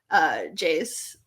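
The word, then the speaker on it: Geyse: Do you think Jays, I think that's how you pronounce it. I looked it up actually. There was like a Manchester United video of her saying her name. Jays.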